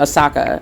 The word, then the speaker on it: Osaka: recently had to step out of the competition osaka and i was pronouncing it wrong but she had to step